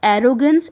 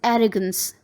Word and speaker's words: arrogance: It is not arrogance, it's arrogance.